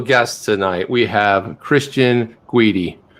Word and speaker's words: Guity: We have Cristian Guity. Rhymes with, not going to say it. Not going to say it. Oh, okay, Jeff. Rhymes with Sweetie.